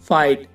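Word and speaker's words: fight: में जीएच या जीएच टी हो तो जीएच साइलेंट रहेगा चुप रहेगा यह बोलेगा नहीं बिल्कुल शांत रहे for example guys फाइट माइट और नाइट इन सब में वर्ड के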